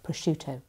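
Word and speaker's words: prosciutto: But the I that comes after the C softens the SC c to be a sh sound, not a sc sound. So it's pushuto.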